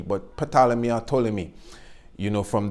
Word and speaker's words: Ptolemy: me some people say potala me because it's actually spelled with a pea but in English you don't really pronounce the P but potala Mia told me you know